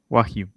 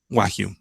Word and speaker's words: Wagyu: Eh, Esta china, no, nunca me acuerdo bien el nombre, el japonés no es chino, el Wagyu, ¿cómo se pronuncia? Wagyu. Wagyu.